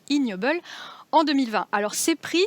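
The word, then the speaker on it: Ig Nobel: d'ailleurs reçu un prix ige nobel prononcé ignoble en 2020 alors ses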